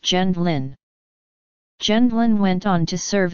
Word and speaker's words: Gendlin: The family changed their name to Gendlin upon their arrival in the United States, and in English it is pronounced Gendlin.